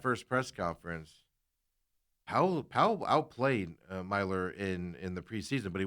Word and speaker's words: Myler: It's spelled as you want to say it, Mailer, but it's Myler.